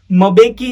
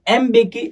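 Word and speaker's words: Mbeki: Okay, अभी जब south Africa की लैंग्वेज आती है तो यहाँ पर मबेकी ऐसा प्रोनाउंस नहीं किया जाता है, इसको एम्बेकी ऐसा प्रोनाउंस किया जाता है, ठीक है।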